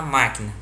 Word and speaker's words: máquina: de pelúcia está na máquina. Indique nesse quadrinho a palavra cuja sílaba tônica é antepenúltima. A resposta é a palavra máquina.